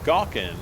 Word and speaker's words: Galkin: aunt last / net my last name is pronounced Galkin but it's spelled like well like it's spelled I was thinking how